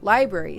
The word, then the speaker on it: LBRY: Library spelled LBRY. Odysee, by the way, is spelled ODYSEE.